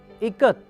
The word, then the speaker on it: ikat: teacher said it is pronounced i as in it ka as in kamala and t as it